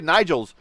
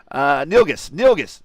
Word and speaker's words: Nilgis: the number 3 car of Luca Nigels. Nilgis. That's right. He's told me how to say his name.